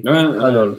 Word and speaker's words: colonel: Mais c'est vrai que Kanol, le noyau, et Kanol, le colonel, ça se prononce souvent de la même façon.